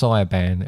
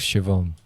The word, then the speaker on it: Siobhan: and Siobhan, who I pronounced Siobhan, and it was Siobhan.